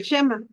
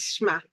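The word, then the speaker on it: שמע: Bueno, estamos viendo aquí todo lo referente a lo que le llamamos o sabemos reconocer lo que es el Shema. Muchos le dicen Shema, Shma, es Shma.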